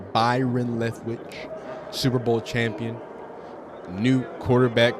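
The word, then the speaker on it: Byron Leftwich: Oh, Brian uh Byron Leftwitch. I apologize. I said his name wrong. I watched too much Family Guy. I called him Brian Lewitch. Byron Lethwitch, Super Bowl champion, new quarterback coach for the Buffalo Buffaloos.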